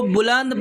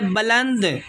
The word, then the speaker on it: بلند: ہمارا لفظ ہے بلند، اس کو بلند پڑھ جاتے ہیں، وہ پڑھ جاتے ہیں خودی کو کر بلند اتنا، بلند لفظ غلط ہے، اس کا جو صحیح تلفظ ہے وہ ہے بلند، خودی کو کر بلند اتنا۔